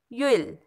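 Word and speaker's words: you'll: तो यू के बाद ऊपर कॉमा है और डबल एल है, तो इसे भी हम कैसे रीड करेंगे, यूल, यानी वो जो डबल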